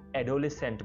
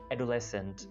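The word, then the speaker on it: adolescent: इसको बहुत से लोग एडोलेसेंट बोलते हैं, एडोलेसेंट जो कि गलत है, इसको बोला जाएगा एडोलेसेंट, एडोलेसेंट, यानी एडो को थोड़ा अलग प्रोनाउंस करना है और अगले पार्ट को लेसेंट बोलना है, राइट।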